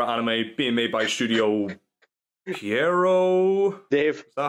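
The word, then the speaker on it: Pierrot: It's a psychological horror anime being made by Studio Piero. Dave. Is that how you pronounce Piero.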